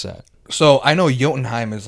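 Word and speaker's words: Jotunheim: that so I know yenim is like you pronounce the J like a y so they're called yens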